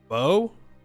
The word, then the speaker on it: Beau: Yeah, like beautiful. B-E-A-U, like beautiful. If I'm saying it wrong, they can correct me. Bow? Oh, I guess that also makes sense, huh?